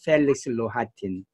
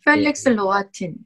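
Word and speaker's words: Felix Rohatyn: 두 번째 이야기는 이분은 이제 펠릭스 로하틴 발음이 펠릭스 로하틴. 네, 펠릭스 로아틴.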